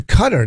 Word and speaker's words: Qatar: in the Middle East qatar's now pronounced cutter I was like why